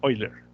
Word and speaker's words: Euler: yo la vez pasada euler según parece ser la pronunciación correcta es hoy leer bueno qué pasó aquí